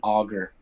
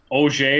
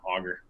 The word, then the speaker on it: Auger: enjoy this interview welcome to the podcast auger waste I how you say it I should